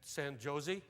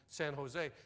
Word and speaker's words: San Jose: I'm going said, "I'm going to Elka John and and San Josie." She said, "Out here?" We pronounce that J like an H. It's Elkahon in San Jose.